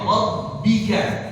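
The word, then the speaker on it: ربك: bertasydid jadi bacanya rabbika jangan dibaca rab ya jangan pakai p jangan diganti pakai p jadi rabbi ya rabbika jangan dibaca rabbika kalau kita baca rabbika itu mengganti ba dengan apa pa ya itu termasuk kesalahan ya terus rabbikal aa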